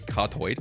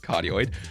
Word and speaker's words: cardioid: background noise isn't because it is a cartoid or actually pronounced as cardioid it is because it's